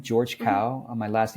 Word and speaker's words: Kao: you can you can Google my name George cow my last name is spelled k AO so just Google George cow and you'll find whatever it is you're looking